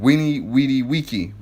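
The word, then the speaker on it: veni, vidi, vici: They had something called Weenie Weedy Wiki, but it's spelled Vini Vidi Vici.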